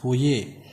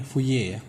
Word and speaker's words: Fourier: pembahasan mengenai deret W tulisannya houllier ya dari bacaannya ini wuye karena puye ini adalah or seorang matematikawan atau ilmuwan berkebangsaan Perancis maka nama Yanti bacanya nih fuye Nah apa kita langsung